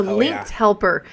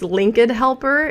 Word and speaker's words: Linked Helper: um linked I think LinkedIn helper link no link Helper but I always say it wrong and then the woman is foreign who actually introduces it and so it's linked helper anyways I want to